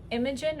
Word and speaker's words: Imogen: a cute name and it can be imogen or or imogene but i think i like imogen better and it would be either